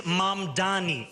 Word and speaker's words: Mamdani: And furthermore, the name is Mamdani, M-A-M-D-A-N-I. You should learn how to say it because we got to get it right.